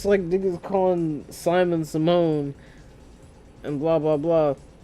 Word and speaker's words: Simon: me and saying, "Hey, you're not supposed to pronounce Simon's name from Gurren Lagann, Simone." I'm not calling that nigga Simone, like Raven Simone. I'm not calling that nigga. His name is Simon, bro. That's just the pronunciation the Japanese gave them because it's fucking like, come on, bro.